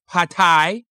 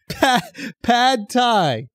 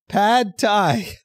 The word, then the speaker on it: pad thai: up it's not but pad thai attay pad thai pad thai oh so it's actually pronounced the way it looks yeah oh okay yeah